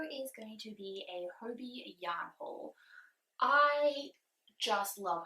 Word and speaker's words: Hobbii: never heard of them i don't know if they pronounce their store as hobie or hobby i pronounce it hobie simply because there's